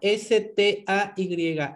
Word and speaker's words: stay: Stay. Se escribe S-T-A-Y, S-T-A-Y, S-T-E-I, no, S-T-A-Y, se escribe stay, pero se pronuncia stay, que sería permanecer.